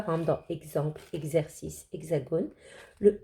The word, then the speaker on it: hexagone: Un hexagone. Vous avez vu, il y a un H muet au début. Le X, X, fait X.